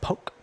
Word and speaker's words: Polk: at upswing poker, which is owned by Doug Polk. They do a lot of heads-up study. Doug Polk? Doug Polk.